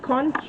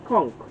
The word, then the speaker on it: conch: Some pronounce it conch, but it's conch. Yes guys, so it ended the sound with a K, but it's spelled with CH.